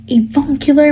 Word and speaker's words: avuncular: I was like defending him almost, even though he didn't have the vaguest idea what avuncular meant.